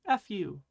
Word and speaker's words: fu: This is fu. It sounds more like a FU sound than an HU sound. Hey, FU. Fu should almost make a sound like you're blowing.